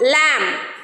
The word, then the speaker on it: lamb: B is silent when it is after M. Okay.